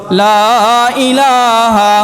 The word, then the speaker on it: লা ইলাহা: যাবে না লাল বলতে হবে মোহাম্মদের জায়গায় হা উচ্চারণ করতে হবে হলকের মধ্যখান থেকে। ঠিক আছে? ইনশাল্লাহ। বলেন দুই একবার। কালিমায়ে তাই্যবা লা ইলাহা লা ইলাহা ইল্লাল্লাহু ইল্লাল্লাহ।